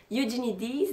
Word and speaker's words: Eugenides: mais deux sexes de jeff et you need is donc c'est la vraie manière de le prononcer en anglais je la pris tout